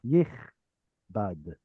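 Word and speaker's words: יכבד: Yichbad. And it gets the ah sound there because it is a state of being verb.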